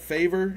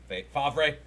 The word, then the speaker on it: Favre: Remember the Brett Favre incident? Yeah, Favre. No, it was Favre.